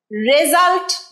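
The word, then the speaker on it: result: here is দা রেজাল্ট রেজাল্ট নয় রে নয় রি রেজাল্ট আরেকবার বলছি রেজাল্টের রে উচ্চারণ হবে না ঋ রেজাল্ট আরেকবার বলো হিয়ার ইজ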